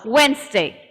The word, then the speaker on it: Wednesday: this word remember yes wednesday the door was not there because it's coming between a ver and a nerf sound wednesday wednesday wednesday wednesday wednesday